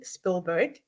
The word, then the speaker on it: Spielberg: spill um let me say his name properly Spielberg expressed his remorse um for making Jaws in